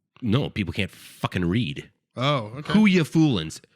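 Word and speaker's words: Whooya Foolin: ] read oh okay whoya Foolin w h o o y a Foolin whoya Foolin it Rhymes it's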